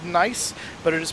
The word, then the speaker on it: Nice: But, uh, it is pronounced nice with an N. Nie. Um, kind of like niece and a nephew.